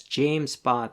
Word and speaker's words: JMESPath: written as jmes but it's pronounced as james path as in king james james path has similarities